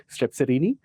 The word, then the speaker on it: Strepsirhini: Okay, Strepsirhine is kind of spelling, the pronunciation, but Strepsirhini, and Haplorhini.